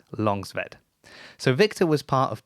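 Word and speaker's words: Långsved: from victor longsweat and it's spelt with an a but that a with a little o above it that's kind of like an o sound so it is longzved so victor was part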